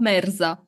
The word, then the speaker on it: Merza: good so so how do how do you pronounce it correctly merza Meza okay yeah yeah yeah I I I